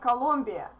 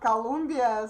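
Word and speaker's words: Колумбия: In Russian, just one sound is different. And actually, speaking with my friends from Colombia, I started pronouncing this word in Russian like this, like Colombia.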